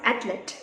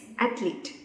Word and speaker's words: athlete: let us see certain words that are commonly mispronounced let us move on to word number one athlete it's not athlete it's athlete we know an athlete is a person who